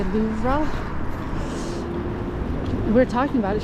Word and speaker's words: Louvre: girl because you know you say Luv that's kind of like a sound at the end the re so there's a girl